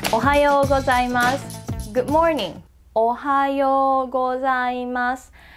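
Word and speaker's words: おはよう: It's more like ohayou, ohayou. When O and U are next to each other in this order, it's more like O-O, so ohayou.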